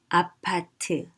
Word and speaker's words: 아파트: So apartment, and it's pronounced as 아파트, 아파트. You can see we also shortened it because apartment would have been just too long. 아파트, and it's spelled 아파트.